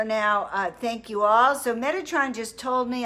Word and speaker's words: Metatron: So Metatron just told me I had his name wrong. It's not Megatron, but I'm here.